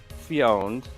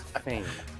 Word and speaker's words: Fane: Sculpture or Era Sculpture, Fane, not Fioned. I've been mispronouncing that for years. It's Fane.